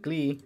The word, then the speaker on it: gli: So glee, right? There's the glee, right? I just want to show you guys how it's spelled, right? Or how it's pronounced also. The glee, right? Glee. It's very subtle.